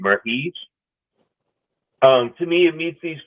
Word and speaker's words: Merhige: Elias, and I'm not sure how to pronounce the last name. It's Merhige. Merhige.